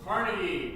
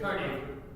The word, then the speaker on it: Carnegie: talk about is Andrew Carnegie, or Carnegie, however you want to say it. Carnegie. It's Carnegie. No one's going to. It's Carnegie, but you can say it wrong and say Carnegie if you want.